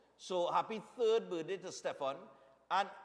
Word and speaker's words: Stephan: birthday is tomorrow so happy third birthday to Stefan and it's spelled s t e p h a n